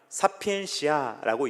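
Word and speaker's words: sapientia: 자, 지혜는 뭐라고 읽느냐? 사피엔시아라고 읽습니다.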